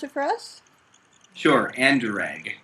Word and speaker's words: Anderegg: asked you to pronounce it so could you pronounce it for us sure anderegg anderegg okay so a little bit similar to mine